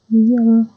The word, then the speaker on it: Nyon: Well, okay, I lied because it's a French word, so I know I'm pronouncing it right. Nyon.